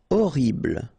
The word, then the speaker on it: horrible: Horrible. Okay, first letter is H, but then we don't pronounce H, so you don't pronounce it. And the first thing you hear is O, horrible.